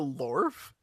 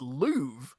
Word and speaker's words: Louvre: Did you say the Lorf?